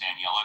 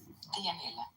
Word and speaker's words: Dianella: Let's go to, is it pronounced Daniela? Do I have that right, Daniela? Dianella.